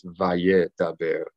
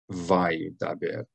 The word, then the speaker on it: Vayedaber: So don't read this Vayedaber. That's a very common mistake that non-Hebrew speakers make when they're learning Hebrew. They pronounce these Shavas like every Shava is a sounded Shava, when that is not the case. More than likely, sometimes Shava is a sounded Shava, but more common and more accepted if you make a mistake doing it, is that you will pronounce the Shava as a silent sound.